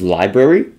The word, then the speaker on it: LBRY: And then just looking at a couple of the different options that we have, I believe this is Library, I think that's how you say it, or LBRY.